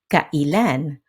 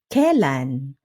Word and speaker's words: kailan: Take the word kailan. You'll often hear it pronounced a few different ways depending on the speaker or the region. For example, kailan, the standard form. Kailan, with a smoother flow. Kailan or kelan, more relaxed and casual.